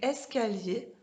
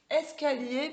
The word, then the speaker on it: escalier: Hop, I-E-R, ça fait yé. Est-ce que vous entendez le y, comme dans la page d'avant de pilotis? Donc, escalier, c'est un escalier, ça s'écrit avec I-E-R. Et on entend, donc quand vous voyez I-E-R, vous ne dites pas escalier, on dit escalier. On fait le y, d'accord? Ok, donc on va mettre escalier pour les yé.